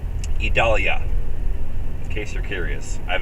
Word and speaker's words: Idalia: the stage for hurricane idalia which is the correct pronunciation by the way idalia three syllables idalia in case you're curious